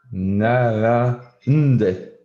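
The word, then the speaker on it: 並んで: And then For the pronunciation, do we say nde or rande? Narande. Narande. So you don't need to stick on any particular syllable. You can just roll over everything.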